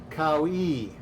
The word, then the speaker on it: Kouwee: It's pronounced Kouwee.